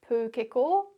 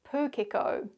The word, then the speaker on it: pūkeko: Well, what you can see or hear in these examples is both the Māori pronunciation, pūkeko, manuka, kōwhai, pōhutukawa, tarakihi, and the anglicised version, pūkeko, manuka, kowai, pahurakawa, teraki.